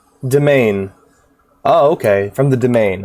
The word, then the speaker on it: demesne: A request hath come in from the Demens. Demens. How do you pronounce that? I'm learning lots of new words lately. Demesne. Is it just Deman? Hold on. Domain.